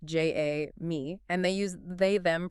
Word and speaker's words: Jamie: And we should note it's pronounced J A me.